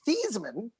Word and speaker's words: Theismann: things about the heisman number one it's actually pronounced thiesman oh really they started pronouncing a thiesman in